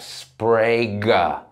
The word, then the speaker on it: Sprague: He's like, sound it out for me phonetically. I'm like, it's like Jack Sprague.